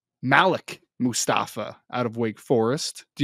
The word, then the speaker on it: Malik Mustafa: Number 8, I believe it's actually pronounced Malik Mustafa out of Wake Forest. Do you remember when we had Calen you're correct. Yep. Malik Mustafa out of Wake Forest, who is a very